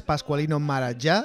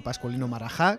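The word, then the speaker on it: Pasqualino Maragià: no amar enseña la pronunciación correcta es pasqualino malasia y no pasculli no marajá es una canción clásica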